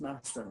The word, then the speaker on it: Masham: but it's pronounced Masham.